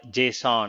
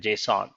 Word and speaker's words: JSON: This is called JSON. It's like pronounced like JASON, JSON, but it's actually JavaScript object notation.